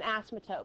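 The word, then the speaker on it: asymptote: line to represent an asimotote. By the way, this is how you spell it. Okay? As y m o tes as totes. The p is almost silent.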